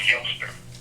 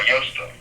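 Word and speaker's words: Eostre: But it's pronounced Yster or Yster, but it's a Germanic word, which is another name for which is where Ishtar gets it root from, right?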